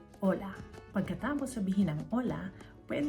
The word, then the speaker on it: hola: Ola. Ang spelling niyan ay H O A pero hindi pino-pronounce ang Hola.